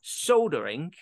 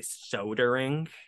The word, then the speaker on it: soldering: accent but they go soldering I say soldering so it sounds like there might be an L in there there's no l okay the L is